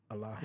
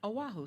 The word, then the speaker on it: Oahu: Oahu? Haleiwa? No, the island we were on. Oahu, sorry. Oahu.